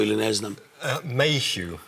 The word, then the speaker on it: Mayhew: Da izgovore sami, vi ćete pričati naravno engleski, ali izgovorite sami sve ime da ja ne griješim u akcentu ili ne znam. Mayhew. Mayhew, u redu, gospodine Mayhew.